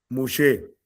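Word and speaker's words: משה: ¿Cómo se pronuncia en hebreo? Mosé.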